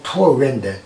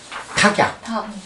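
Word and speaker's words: 橐籥: 기유, 이게 투어웨인데, 투어웨. 한국말로 뭐라고 읽어야 돼? 탁약. 탁약.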